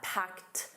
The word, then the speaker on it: packed: And notice that packed a soft t at the end.